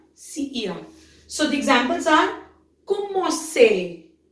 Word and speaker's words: commencer: So the examples are commencer, commencer, commencer. So CER has sound as say.